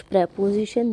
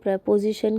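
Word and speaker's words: preposition: ये बॉक्स में कुछ प्रपोजिशन दी हुई है, प्रीपोजिशन कह लो प्रपोजिशन कह लो, बट the correct प्रोनाउंसिएशन इज़ प्रपोजिशन, लेकिन जो पॉपुलर है वो प्रीपोजिशन हम कहते हैं।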